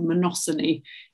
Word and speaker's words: monopsony: A monopsony, which actually Joade will tell me that it's a monopsony if you're pronouncing it properly.